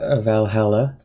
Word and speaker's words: VA-11 Hall-A: Yeah, we're gonna be playing a new game called Valhalla. Well, it's spelt with numbers and stuff, but it is Valhalla.